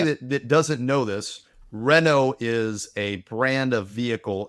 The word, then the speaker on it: Renault: See, again, it's Renault. It's Rena. What's with your It's Renault. What's with What is with your pronunciation?